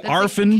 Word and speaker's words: Orphan: entitled Orphan Black and is that the correct pronunciation by the way arfen Canadian pronunciation is that really how you would say it in Canada wow uh we have